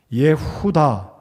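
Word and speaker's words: יהודה: 이름 속에 들어 있습니다 예후다 히브리 발음으로는 예후다라고 제가 기억을 합니다 자이 유다는 예수님의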